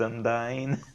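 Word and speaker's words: Undyne: Yeah, that one is actually pronounced undying.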